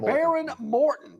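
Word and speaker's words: Behren Morton: Texas Tech quarterback Baron Morton. Am I pronouncing his name right? Baron Morton. That H kind of threw me off. There's an H in the middle of his name.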